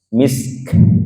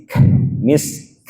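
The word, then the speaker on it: مسك: misek P ya khitamuhu misk gitu ya ada orang bacanya khitamuhu misek gitu Harus dilebur apalagi Kaf di situ sifatnya Hames plus syiddah jadi Mis misk gitu ya Minal ARD jangan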